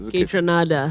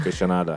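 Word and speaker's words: Kaytranada: Is that what how's his name pronounced? Kitranada. Kitranada.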